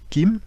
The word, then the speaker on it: kim: élément qu'est le métal qui se prononce et qui écrit kim donc l'écriture permet la prononciation puisque on le ferait